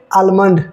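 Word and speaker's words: almond: पढ़ेंगे बालम और उसे आलमंड आलमंड राइट लेकिन हमने आपको क्या टॉप सीक्रेट पता चला कि एम और ए के बीच में यदि एल आता है तो आपको एल को नहीं प्रोनाउंस करना है राइट अच्छा ओ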